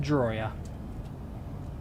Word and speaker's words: Drawyah: It's pronounced Drawyah.